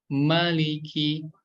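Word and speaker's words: مَلِكِ: Nah, jangan sampai ketika kita membaca surat An-Nas, mimnya dibaca panjang 2 harokat juga nih. Malikin nas. Nah, itu hati-hati ya, itu kurang tepat karena huruf mim di sini dibaca 1 harokat saja ya.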